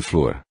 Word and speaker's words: Flower: Observo, finalmente, que meu nome Flower, pronunciado Flor, como foi ditado a primeira vez, corresponde ao modo pelo qual pronunciavam os familiares de meu pai.